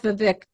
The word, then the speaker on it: Vivek: Whereas somebody like Vivek rhymes with fake and cake and shake.